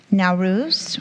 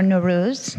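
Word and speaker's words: Nowruz: Year Black History Month naurus or nurus depending on how you pronounce it Juneteenth and that is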